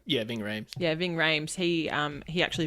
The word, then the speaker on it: Ving Rhames: Is that how you pronounce his name? Yeah, Ving Rhames.